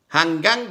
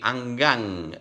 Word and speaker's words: hanggang: song, hanggang sa muli, hanggang, this again, you will never pronounce like Italian, hanggang, no, hanggang, hanggang sa muli.